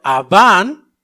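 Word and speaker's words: עָוֹן: Rápidamente, la iniquidad del hebreo que significa, que se pronuncia Aván, significa torcer, doblar, desviar.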